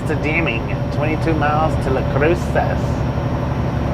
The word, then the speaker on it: Las Cruces: Deming 22 miles to La Cruces Las Cruces don't tell me it don't have a s pronunciation in it if they didn't want me to pronounce the S they wouldn't put it in there don't be a Target